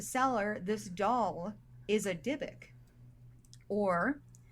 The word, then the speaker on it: Dybbuk: like there it's like you can pronounce Dibbuk with a Y or Dibbuk with an I, but for me in my voice right now it'll sound the same either way.